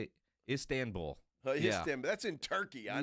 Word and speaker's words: Istanbul: Istanbul.